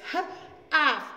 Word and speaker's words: half: take care of that we don't pronounce the letter L we don't per say it we don't pronounce it so it's ha-ah it's not half it's